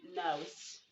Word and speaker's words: nose: In these words, you are to pronounce the letter S, making the sound Z. You don't say nose, you don't say press, you say press.